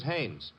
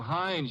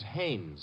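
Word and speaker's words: Haines: His name is Hannes.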